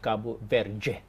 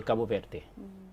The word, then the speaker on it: Cabo Verde: A Brazilian, just even pronouncing the word Cabo Verde, would pronounce it Cabo Verde. Anything that ends in D and E is pronounced with a J sound, while somebody from Portugal would say Cabo Verde. From Brazil, Cabo Verde.